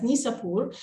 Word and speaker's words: Nishapur: in the city of nishapur and Arabic we pronounce it as nisapur uh which is one